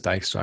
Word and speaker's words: Dijkstra: are left with Dijkstra and does anyone else pronounce it differently by the way not a rhetorical question no no one everyone says Dykstra because I've heard it in so many ways